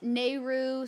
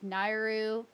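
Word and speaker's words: Nayru: Like, the goddesses of Zelda, people say, Din, obviously, most people say one way, but, like, there's Nehru, some people say not, like, Nairu.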